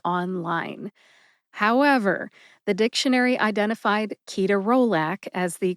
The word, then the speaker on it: ketorolac: correct way, which is ketorolac. Ketorolac has 4 syllables. I prefer to say ketorolac, and then I pronounce the syllables this way. Ke, like the children's toy connects, or the word connect.